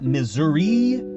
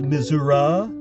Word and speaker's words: Missouri: Is it Missouri? Is it pronounced misura? Is it pronounced misery? I've asked actual missurrians and they just say, "Well, depends on what part you're in."